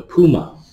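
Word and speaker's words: pneuma: The Puma.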